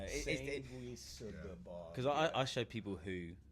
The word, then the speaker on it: Sanguisugabogg: So for the record, for the UK fans, what is the correct pronunciation of it? Sanguisugabogg. So if you slow it down, it, you know, Sanguisugabogg.